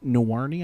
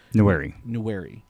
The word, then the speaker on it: Nwaneri: the big one is Williams Nwaneri, I think is how you say it. Nwaneri.